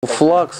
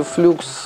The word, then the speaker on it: Flux: Флакс или флюкс, транскрипция, правильно, флакс. Многие, в том числе на американском рынке, произносят флюкс.